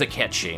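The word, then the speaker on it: Cait Sith: name is spelled kate sith but it is a catchy that is how that is actually pronounced in um iris mythology but even though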